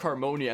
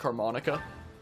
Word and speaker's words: Harmonia: always mispronounce my name they look at acoustic Harmonia and they're like oh how is it going acoustic harmonica and I said yeah